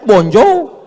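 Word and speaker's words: bonjour: Tulisannya bonur. Bacanya bonjou.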